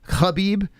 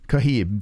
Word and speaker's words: Khabib: call a nice guy I've heard people in his Camp pronounce it the K like khabib yeah I never heard kaheem that was a first that was definitely first